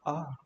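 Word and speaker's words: あ: This is ah. Ah is pronounced like ah. Like when you come to the realization, it also sounds like ah in car.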